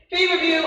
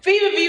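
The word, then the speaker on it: feverfew: Fever view, and the way it's spelled, just like fever, like I have fever here, and it's F-E-W. Fever view, F-E-W on the end.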